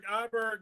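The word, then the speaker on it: Åberg: John, how do you pronounce Aberg? Iberg with the circumvents over the little dots over his later.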